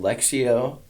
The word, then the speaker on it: Lectio: choose from so then there's another app called lexio uh 365. lexio is spelled l-e-c-t-i-o um so i did that not